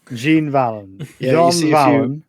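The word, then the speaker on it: Jean Valjean: Jean Valon. Pronounce it through your nose.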